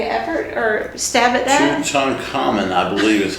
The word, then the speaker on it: Tutankhamun: Do you know how to pronounce it? No, I don't. Tutankhamun. Can you make an effort or stab at that? Tutankhamun, I believe is how it is.